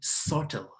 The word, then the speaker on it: subtle: and remember again please we say subtle subtle subtle not subtle you don't pronounce the b we say sorted so